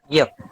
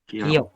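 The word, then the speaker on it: 기역: Ini biasanya dibaca kalau dalam pelafalan Indonesia itu dibaca G atau A. Namun kalau dalam bahasa Korea ada Gyok. Kiok.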